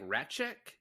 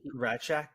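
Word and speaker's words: Rasczak: They pronounce it like Ratchek is how they pronounce this guy's last name. Ratchek, yeah.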